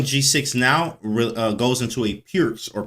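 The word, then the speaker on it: Pirc: Going g6 now goes into a pierce or perk or whatever you want to call it. Basically, it's perk or pierce, pronounced pierce, but it's spelled perk, P-I-R-C.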